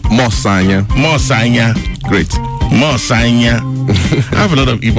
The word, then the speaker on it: Mosanya: I don't know how I pronounce that, if I pronounce that right, but I believe it's pronounced as Mosanya. Am I correct? Mosanya.